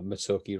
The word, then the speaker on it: Mezzocchi: jeff um and yes that is how he pronounces it uh uh it's not it's not my uh getting uh mitsuoki wrong um we talk a lot about about